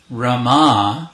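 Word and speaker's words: Ramā: referring to sita with rama this is with a long a at the end this is another name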